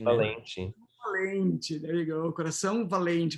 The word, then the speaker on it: coração: Coração valente. But you have the diphthong and then the nasal ing, right?